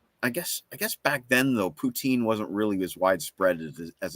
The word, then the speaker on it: poutine: So well, I can tell you that if you do return to our country, you must have some poutine, which for those who don't know is French fries and gravy with cheese curds.